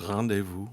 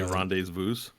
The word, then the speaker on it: rendezvous: French ones like Been our rendezvous. policy so far. We're not changing it anytime soon. Yeah. Rendezvous is a French word. It's rendezvous. Mm-hmm. You say rendezvous.